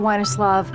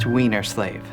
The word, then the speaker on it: Weinerslav: Excuse me, Mr. Weinerslav. It's pronounced Wienerslave.